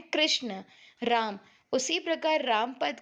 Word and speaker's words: राम: कई बार लोग राम का उच्चारण केवल राम अथवा रा इस प्रकार करते हैं, परंतु म काल में हल के बाद अ का निहित है। राम राम म।